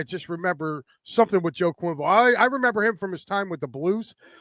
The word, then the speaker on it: Quenneville: Quenneville, I always say his name wrong.